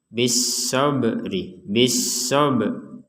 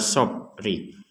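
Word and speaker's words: بِالصَّبْرِ: Nah, di sini ada ba sukun. Maka kita membacanya dengan dipantulkan bis-sabri. Sob. Jadi tidak sekedar sobri. Bis-sabri. Nah, kurang. Harus dipantulkan bis-sabri. Dan dalam pemantulan huruf ba ini jangan sampai keterlaluan sehingga terdengar kata be.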